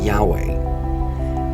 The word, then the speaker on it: Yahweh: Some say the correct pronunciation of that name is Jehovah. Others say the correct pronunciation of that name is Yahweh.